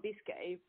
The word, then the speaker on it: Biscay: Yeah, Biscay.